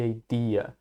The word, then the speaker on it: idea: Repare na pronúncia de idea. O I do começo a gente fala da mesma forma que a gente fala o sujeito I, eu.